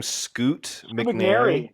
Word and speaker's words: Scoot McNairy: Scoot McNairy.